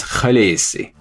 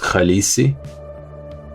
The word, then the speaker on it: Khaleesi: own language sounds like he says the correct pronunciation of khaleesi is the native dothraki pronunciation is khaleesi peterson says that his